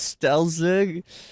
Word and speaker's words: Stellzig: For those who don't know who I am, my name is Stellzig. Yeah, that's how you say my name.